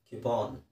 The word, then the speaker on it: coupon: ಅದು ಕೂಪನ್ ಅಲ್ವಾ. ಕನ್ನಡದಲ್ಲಿ ಹೇಳಬೇಕಾದ್ರೆ ನಾವು ಕೂಪನ್ ಅಂತ ಹೇಳ್ತೀವಿ. ಇಂಗ್ಲೀಷಲ್ಲಿ ಸರಿಯಾದ ಉಚ್ಚಾರಣೆ ಅದರದ್ದು ಕ್ಯೂಪಾನ್.